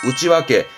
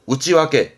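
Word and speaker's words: 内訳: 그래서 발음이 4번 우찌와케. 내역서의 내역은 우찌와케. 잊지 마세요. 우찌와케입니다.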